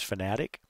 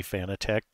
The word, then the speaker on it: Fanatec: establish up front is I am going to pronounce this fanatec even though I know that the kind of official way from the company is fanatic and that's fine it's just that a lot of us say fan attack because the way it's spelled and um also I